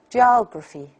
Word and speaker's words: geography: at the word we have only one stressed syllable here oh and then the other three one two three and we have three unstressed assembles listen to me and then tried to figure out the difference between their stress the servile and the ancestor syllables geography geography geography